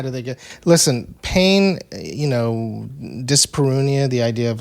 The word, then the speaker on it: dyspareunia: Dyspareunia. The idea of like, is that how you pronounce that?